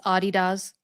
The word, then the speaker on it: Adidas: on Adidas now that Gary, it's Adidas. Adidas. I learned that from David Beckham. Learned that from David Beckham. This is international soccer. I learned that from David Beckham, and so you have to pronounce it that way.